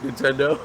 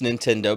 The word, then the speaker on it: Nintendo: See, and and here's probably why it's Nintendo because it rhymes with he don't know cuz that was that's the words before that.